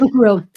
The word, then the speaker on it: Kokoro: Kokoro. Kokoro Kokoro. is, yeah, well, I say it with core in the center because I've Americanized it, but Kokoro is my version. Kokoro.